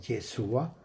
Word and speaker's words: Yeshua: Pero tómese en cuenta que cuando Yeshua, porque el nombre correcto que se debe pronunciar es Yeshua, eso no quiere decir que si usted dice Jesús, es que está pecando por eso.